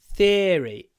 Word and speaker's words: theory: This word can be pronounced with a long I. Theory. Theory. Like the serious sound. It can be like serious theory. Serious theory. Or you can say theory if you want. Like idea, theory.